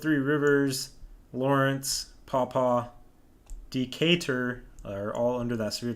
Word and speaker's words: Decatur: it's kind of hard to tell oh i mispronounced the town name earlier it's a dk or d cater decatur okay thank you for that steve i knew